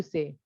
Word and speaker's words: ça: It is not kava, it is sa.